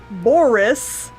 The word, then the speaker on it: Boris: let us have some boris horse boris with two syllables karloff doing the parrot